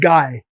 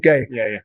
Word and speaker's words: Gay: It's called Ricardo Guy and the pronunciation guy, not gay.